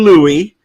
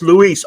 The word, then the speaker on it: Luis: You've just been talking okay, so someone got upset that I called you Louis, and that if your name is pronounced Luis. Okay, and what I was going to say was, okay, you're Cuban. It's Luis, or I could call